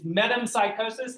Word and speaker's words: metempsychosis: That's the word that you probably really like telling people, and it is metempsychosis. Anybody have some excellent pronunciations of that that you're willing to share.